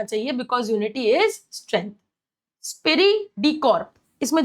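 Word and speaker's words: esprit de corps: बट the correct pronunciation is स्पिरिरी डिकॉर्ब।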